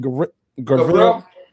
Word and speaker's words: Gavril: Gavril.